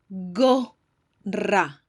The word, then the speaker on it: gorra: Gorra. Don't forget to double your R.